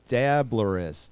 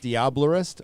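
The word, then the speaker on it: diablerist: gadot what just how am i supposed to say this diablorist or the dabblerist or the viableist diablorist okay yeah everest like diablo but a diablorist gotcha diablo 52.00 nothing to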